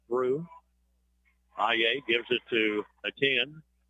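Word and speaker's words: Ateny: IEA gives it to a 10. It's A-T-E-N-Y. But from what I can gather, the pronunciation is just A-10.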